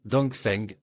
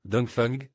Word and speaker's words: Dongfeng: L'expression Vandet se prononce comme Dongfeng en chinois. C'est à peu près ainsi que nous la prononçons, bien qu'il existe également une variante dfung qui n'est pas très correcte.